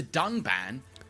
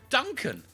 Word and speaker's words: Dunban: strongly disagree with and then calls the character dunban Duncan this time however they did edit out the